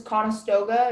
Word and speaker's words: Conestoga: The only pronunciation is Conestoga.